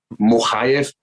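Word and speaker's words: Mokaev: And we've seen that for is it Moquet for the first fight? Mochaev. How do you pronounce his name? Mochaev, where he had an amazing amateur record.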